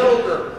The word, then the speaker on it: Hilger: Hilger with a hard G.